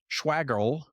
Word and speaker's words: Schwagerl: That's why we're thrilled to have today's guest, Schwagerl, rhymes with waggle, back on the podcast and in the Champion's Corner.